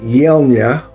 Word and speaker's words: Yelnya: have any more time go bye and uh yela is the way this is pronounced I said I wouldn't find out yela